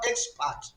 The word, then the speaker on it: expert: as such since it's an adjective is going to be small letter E X then capital letter P E R T but if I say in the next context I am an expert just at the word expert in that context the expert there is a noun and as such it must be stressed on capital E capital X then P E R